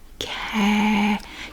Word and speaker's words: cat: cat crack cat cat you have to kind of do like that cat cat and you don't really emphasize the t very much cat i mean it's kind of there but you don't emphasize it crack cat crack which